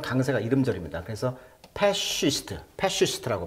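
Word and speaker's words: fascist: 그래서 패시스트라고 발음하는데 파시즘의 신봉자, 뭐 독재자 이런 뜻이에요.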